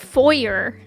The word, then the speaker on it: foyer: And I was like, "Well, what's the American pronunciation?" And my dad was like, "Foer." I was like, "I've never in my life heard foyer."